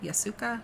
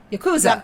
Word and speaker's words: Yakuza: Yasuka? Is that how you say it? Yasuka. Wait, no. Yakuza. Yakuza.